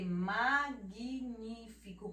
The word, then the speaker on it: magnífico: Olha só o G, magnífico, como se tivesse o U e o I, mag, mas não é só o G, magnífico.